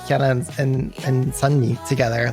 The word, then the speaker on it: Sunmi: latest song which just came out but it's sunny who prevails and it's her progressive acoustic friendly